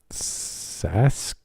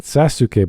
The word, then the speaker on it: Sasuke: boy what's your name Sask okay not Sasuke but SAS well that's that's the proper pronunciation the U is silent Master roshi what are